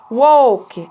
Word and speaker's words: walk: walk الاي اللي هنا منطوقة او walk ما بنطقش ال اصلا.